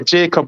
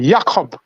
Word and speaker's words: Jakob: Jamaican will say Jacob, but they pronounce his name Jakob Ingebrigtsen.